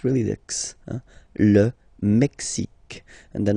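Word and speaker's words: Mexique: mexic it's really the mexic and then remember this Q it's only mexic okay Brazil brail okay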